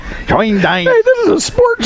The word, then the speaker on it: Schoendienst: Schoendienst. Schoendienst.